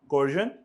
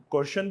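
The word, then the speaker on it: coercion: कोर्जन, undue influence, कोर्शन भी बोलते हैं, दोनों प्रोनाउंसिएशन अवेलेबल है।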